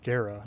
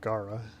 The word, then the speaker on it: Gara: protect Cetus ones nor forgive me for pronouncing her name wrong I guess it's Gera not Gaara now and that ends SIA